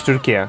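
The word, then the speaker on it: Türkiye: Um the the correct way to say our country's name now is Turkey. Turkey is the animal. Turkey is the country.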